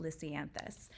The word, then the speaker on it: lisianthus: specifically I'm going to talk to you about lisianthus and that is how you say it lysianthus